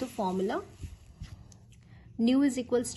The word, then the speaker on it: nu: Makeup the statistic, इसको न्यू से denote करते हैं. इट कैन be pronounced as NU, न्यू, म्यू नहीं बोलना है, इट इज NU, that is न्यू.